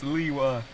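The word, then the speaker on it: Lewa: Liwa, Lua, I really Hey! don't care anymore. It's Liwa. It is I Liwa. don't care anymore! I'm done with pronunciations.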